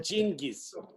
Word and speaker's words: Genghis: So, is it Genghis? Genghis, yes. How do you say it? Okay. Genghis. like genius.